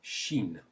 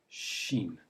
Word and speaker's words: Chine: And the sh sound in French is made with a CH in English, as in la Chine.